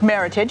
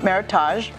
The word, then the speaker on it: Meritage: our luxe Meritage now Meritage is first of all it's one of the most mispronounced words in the world of wine mispronounced Meritage not Meritage and Meritage is a made-up word it's a cross between the words merit and heritage and it was a